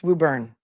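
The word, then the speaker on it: Woburn: I tried Wuburn. I was going to say Wurn. So Woourn. I said Woo. So, it's Wuburn.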